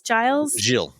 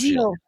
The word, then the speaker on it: Gilles: I always say Ralph's last name wrong. Giles. Ralph. Gilles.